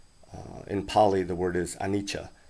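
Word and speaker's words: anicca: pali the word is anicha usually it's spelled a n i c c a i don't really like that spelling because it sounds looks more like annika uh that's orange ram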